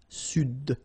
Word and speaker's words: Sud: Here you should pronounce the D. Sud.